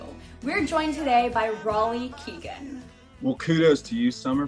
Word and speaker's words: Raleigh Keegan: name a few you we're joined today by Ry Keegan well kudos to you Summer for pronouncing my name right you killed it I